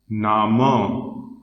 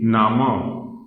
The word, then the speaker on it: Name: In German, the spelling of name is this only, but it is pronounced as Nama. This is pronounced as Nama. Name, Nama.